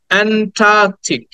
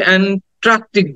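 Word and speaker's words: Antarctic: আমরা করি সেটা হচ্ছে এন্ট্রাক্টিক বলি টি এর পরে একটা আর উচ্চারণ করি কিন্তু এখানে কিন্তু টি এর পরে কোন আর সাউন্ড নাই আমরা বলি অ্যান্টার্কটিক মহাদেশ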